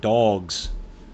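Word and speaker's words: Big Dawgs: It's spelled D-A-W-G-S, like dogs.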